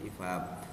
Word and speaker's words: EPUB: format ibab Fabiano epum penulisannya epubee tapi dibacanya ifab nah ini kepanjangan dari